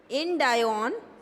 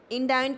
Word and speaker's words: Indion: Tablet disintegration, इसके under लिखो इंडायोन। इंडायोन की स्पेलिंग है INDION।